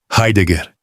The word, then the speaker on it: Heidegger: Heidegger, com o R aspirado do português e os dois G duros.